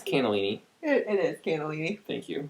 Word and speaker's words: cannellini: It's cannellini.